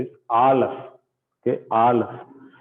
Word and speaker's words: Aleph: The first letter is Aleph. Okay, Aleph. So Aleph, it doesn't have any sound. Firstly, Aleph doesn't have any sound. It is a silent letter.